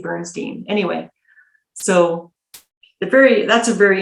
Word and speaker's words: Bernstein: His name is spelt Bernstein, but they say Bernstein.